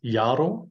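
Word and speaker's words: yaro: The Y is just like in yellow, always. So it is jaro for year.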